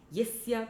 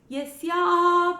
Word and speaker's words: yasya: Yasya prasadat bhagavat prasado. So here the first Yasya is short. Yasya prasadat bhagavat prasado. The next Yasya has a long A at the end. Yasya prasadan nagati kutopi.